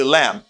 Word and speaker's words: lamb: Pas oublier B à pas prononcer dans le mot ça.